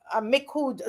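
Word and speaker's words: Micoud: So far it's um Mikud South. Okay. Mikud South. And I might be murdering that name. Not but I'm MIC. I think Miku Miku South. I don't think the D is pronounced.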